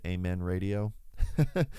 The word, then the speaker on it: AMXN Radio: project right now called Amen Radio, although it's spelled AMXN Radio for some reason, but it's pronounced Amen Radio.